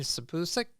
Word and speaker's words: Sipusic: us today is sabusic I hope I pronounce your last name right close well give me a pronunciation so I I stick with it correctly the pusic like peace okay okay uh